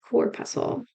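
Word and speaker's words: corpuscle: is called the renal cor pusle cor pusle is spelled kind of like how muscle is Reno cor pusle rhymes with muscle and it's spelled the same the Reno cor pusle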